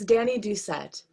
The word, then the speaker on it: Dani Doucette: because i don't want to say your last name wrong no worries it's danny ducette okay see i wouldn't have gotten that